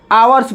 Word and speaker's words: hours: लेकिन हावर्स नहीं पढ़ा जाता है, क्या पढ़ा जाता है? आवर्स पढ़ा जाता है।